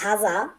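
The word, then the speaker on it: هذا: কথা বলা এরপরে দেখুন হাদা শব্দের অর্থ হলো এটি এখানে মূল শব্দটা হলো হাজা কিন্তু এটাকে আরবিরা হাদার মত উচ্চারণ করে কিন্তু মূল হলো হাজা বাত্তানিয়া শব্দের অর্থ হলো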